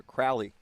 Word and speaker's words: Crawley: And I heard the pronunciation by the public address announcer, Crowley.